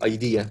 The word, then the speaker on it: idea: this word is process idea not idea I know that so many ppl yeah so many people say idea its idea the stress on the second vowel the stress is on